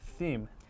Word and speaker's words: theme: 자, 테마가 아니라 theme. Theme. TH 발음이 조금 어려워요, John.